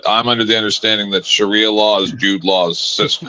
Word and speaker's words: Sharia: on were the trying to wrong make fun- syllable. You were trying to make fun of her for saying Shari law wrong, Sharia. and you said manipulate. Like what the fuck? No, wait. I said Sharia.